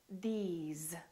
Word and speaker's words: these: Another word is was, because, these, those, please, always. So these are some very common words that we use all the time that are spelled with an S and pronounced with the Z sound.